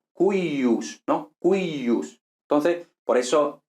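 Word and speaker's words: cuius: Entonces, por ejemplo, en cuyus, porque esto realmente, nosotros normalmente lo pronunciamos cuyus, pero esto realmente era más bien algo como cuyus, ¿no?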